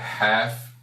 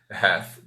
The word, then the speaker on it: half: Então, retornando, 7h30, 7:30 e 7h30, half past 7. Lembrem, não vamos pronunciar essa letra L aqui, é como se ele não existisse. Vou pronunciar half past 7, ok?